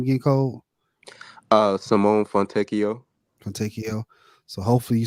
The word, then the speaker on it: Fontecchio: You said what's in the how you pronounce the name again, Cole? Simone Fontecchio.